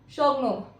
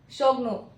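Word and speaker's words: Xiongnu: The correct pronunciation of this word is a Shogno. Repeat after me. Shogno.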